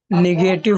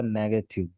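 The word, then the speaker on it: negative: हाँ तो इसको निगेटिव मत पढ़ना, ये खालिद ने बिल्कुल सही प्रोनाउंसिएशन किया इसका। That is नेगेटिव, नेगेटिव, निगेटिव नहीं।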